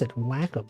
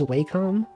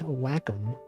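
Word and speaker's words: Wacom: this my mouse yeah whack that's how you pronounce It Whack I used to think it was wcom but the correct way is in fact wack it's kind of weird I did not expect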